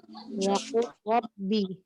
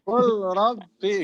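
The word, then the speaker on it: وَقُل رَّبِّ: Langsung pada lafaz qul diidghamkan ke dalam ro sesudahnya sebab terjadi hukum idgham mutajanisain, yakni dibaca idgham kamil. Waqul rabbi.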